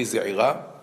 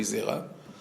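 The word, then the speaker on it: זעירא: the name of Rabbi Ze'ira, or Rabbi Zera. His name was Rabbi Ze'ira in Bavel, but in Eretz Israel, people couldn't pronounce the Ain, so they turned him into Rabbi Zera.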